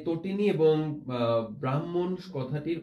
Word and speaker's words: তটিনী: আমাদেরকে রাকি বাড়ি তো বারবার প্রশ্ন করছে যে তটিনী এবং ব্রাহ্মণ কথাটির উচ্চারণ কি। আমরা তটিনীর উচ্চারণটা তোমাদেরকে দেখিয়ে দিই, এটার উচ্চারণ হবে তো টি নি, অর্থাৎ এখানেও একটা সংবৃত উচ্চারণ আমরা দেখতে পাচ্ছি।